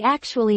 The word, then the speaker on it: actually: I actually knew that. The first syllable becomes weaker. How do people usually say it?